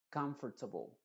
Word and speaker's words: comfortable: cuando se pronuncia y esta a también se pronuncia como sha se diría comfortable comfor no es T T sino comfortable admirable